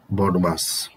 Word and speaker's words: BODMAS: সেই সূত্রটা হলো, নিয়মটা হচ্ছে BODMAS, বদমাস। এটাকে অনেক সময় বাংলায় বদমাস উচ্চারণ করা হয় বাচ্চাদের বোঝানোর জন্য, বদমাস।